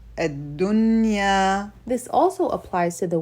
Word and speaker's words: الدنيا: The rule on the word dunya is izhar, or to show the noon. We pronounce it الدنيا الدنيا.